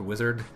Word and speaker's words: WZRD: He started this pretty terrible group called Wizard. Okay. It's spelled WZRD.